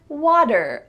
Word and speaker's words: water: the word water water what's the sound that you hear in the middle of this word water water well it's not a T sound water instead it's a day here we have again the T is changing to a D this is typical in American English water water I want